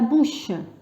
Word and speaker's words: bouche: ça لو كان نحي هذا الأو يعطيني بو، ولما نزيد الأو يتحول إلى بو. il faut bien prononcer la بو. وحرف الشين باللغة الفرنسية سي سي اش. la bouche ولازم نزيد ان او à la fin.